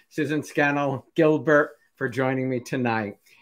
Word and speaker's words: Scannell: thank you to susan skinnell i i'm trying to pronounce it correct she said scandal like flannel susan scannell gilbert for joining me